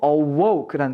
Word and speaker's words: awoke: 동사의 과거형이 되는 것인데 이거 여러분들 그냥 어라고 읽으시면 안 됩니다 발음기호를 잘 봐도 들어나 있는데요 a woke라고 읽어 주셔야 돼요 중간에 우 발음이 약간 들어가 있어야 됩니다 해서 지금 주위요요 칸에